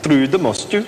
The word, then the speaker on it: Trude Mostue: Trude, Mostue. Trude, Mostue. That's right. Ah. Don't lapse into the English accent. We prefer the Norwegian.